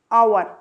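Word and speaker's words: hour: अब एच से बनने वाला वर्ड है आवर, आवर। अब देखिए यहाँ पर आ वोकल कॉर्ड का यूज़ हो रहा है, एच इसमें साइलेंट है।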